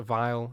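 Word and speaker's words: Weil: The leader of this mathematical group was Andre Whale, pronounced a vile as in viism.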